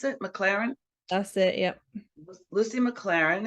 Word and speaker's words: McLaren: Lucy McLaren, is that how you pronounce it? McLaren?